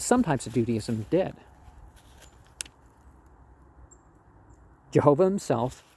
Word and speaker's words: Jehovah: Jehovah himself, it's always pronounced with a J and a Y and a W instead of a J and a V, because there was no J or V sound in that language.